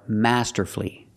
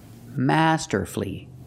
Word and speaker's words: masterfully: l l y and the stress is on the first syllable so the U is silent example he played the guitar last night he played the guitar masterfully masterfully three syllables don't pronounce